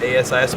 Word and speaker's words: ASIS: him right here at Asis plus I learned how to pronounce it I think on on previous podcast I said can't as is because they worri about Isis right the term yeah so once and